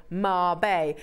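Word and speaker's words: Mabe: fact I'm about to show you how it's pronounced and it does say Marb now I've pieced together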